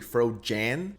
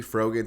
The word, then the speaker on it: Frogan: And I've been getting told that I'm pronouncing her name wrong. It's actually Fro Jan. Hell no. I'm not saying it like that. She will forever be Frogan to me.